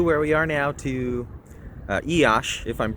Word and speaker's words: Iași: We're heading from Sibiu, where we are now, to Iași, if I'm pronouncing that correctly. I believe it's Iasi. It's pronounced Iași, and I wanted to document our trip here on this bus.